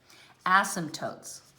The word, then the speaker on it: asymptote: slope of the asymptotes asymptotes is how it's pronounced accent on the first syllable this one now i